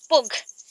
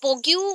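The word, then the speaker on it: Pogue: इन 2009 technology communist David पोग, that is पोग, okay, पोग्यू बोल सकते हैं स्पेलिंग के लिए, बट पोग, ठीक है, डेविड पोग सेड दैट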